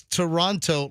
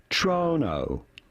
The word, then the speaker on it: Toronto: They simply ignore the T there, which makes it pretty straightforward. Once you know this, you can just say Toronto, Toronto. Pretty straightforward. Do not say Toronto, but rather Toronto.